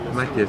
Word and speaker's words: Matjes: ¿Cómo se pronuncia? Matjes, sí.